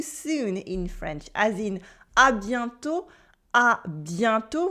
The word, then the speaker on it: à bientôt: And we also have lots of ways to say see you soon in French, as in à bientôt with a silent T for see you soon or talk to you soon.